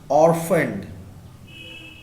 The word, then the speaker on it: orphaned: Answer is from the phrase orphaned. ORPHANED. It's not orphaned or orphaned. It's orphaned. You are going to pronounce it as an F.